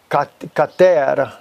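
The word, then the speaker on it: כתר: And it is kater in Hebrew is how you say it, kater, which means crown.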